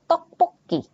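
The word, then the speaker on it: 떡볶이: huruf ini jinca gitu lalu ini yang double D tadi dibacanya seperti t tapi ada penekanannya kita bisa lihat di sini ada contohnya ada tokpuki tok ngomongnya tok tokpuki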